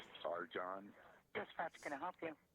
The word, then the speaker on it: Arcan: His name is Arjan Chetin, and he's from Turkey, so it's a little strange name, but it's spelled Arcan.